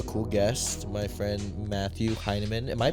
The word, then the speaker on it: Heinemann: we have a cool guest my friend Matthew heinan am I pronouncing that right hinaman yes okay sweet I think I spelled it